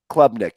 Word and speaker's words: Klubnik: between Ungalele and I have a hard time pronouncing the other quarterback. Is it Klubnik? Klubnik, yes.